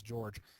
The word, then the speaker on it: Georg: I believe you still pronounce that as George. So it's George Simon Ohm, and he talked about the relationship between voltage and current.